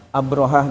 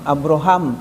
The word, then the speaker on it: Abrahah: Itu Pak Ustaz ada mutawif yang kita dengar langsung mengatakan ini katanya namanya Abraham ya. ee Abraham ya pakai mim harusnya kan Abrahah. Nah, kemudian kita tulis juga bahwa bukan Abraham tapi Abraha dengan rujukan kitab ini, kitab ini.